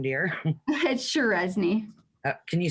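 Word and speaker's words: Cseresznye: question what's your last name dear that's shirezny can you spell that it's c s e r e s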